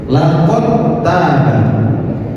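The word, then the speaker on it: لقد تاب: Sama halnya dal sukun bertemu dengan ta. Dal bertemu dengan ta. Cara membacanya idgham. Kalau dikatakan idgham, maka artinya memasukkan huruf yang pertama pada huruf yang kedua. Laqad taba. Meskipun dal ini memiliki sifat qalqalah, tetapi itu seakan-akan dihilangkan dalnya. Karena kenapa?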